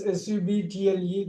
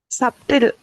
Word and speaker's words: subtle: Anyway, so can you say this SUBTLE? That's a very nice word to pronounce. Subtle. Already. Subtle. Okay, you really got it. B is silent.